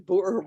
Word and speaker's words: Boer: pronunciation of your name well it's like the boer war like the bora bora no the poor war oh the board war in south africa which we're gonna table